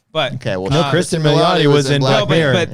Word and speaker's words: Milioti: That's not how you say it. Milioti. Kristen Milioti.